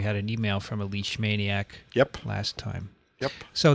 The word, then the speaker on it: Leishmania: going to discuss the leash mania group today leash mania like as in i got you on a leash yes maria is i